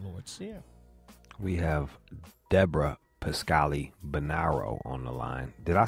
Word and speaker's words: Pascali-Bonaro: rud Jude and Lord SE we have Deborah pascali banaro on the line did I say your name